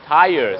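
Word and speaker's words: tires: จำ ได้ ครับ ว่า Fire ยัง ออก เสียง ว่า Fire ดัง นั้น ยาง รถ ยนต์ ก็ ต้อง ออก เสีย ว่า ties ครับ ใช่ ครับ I looking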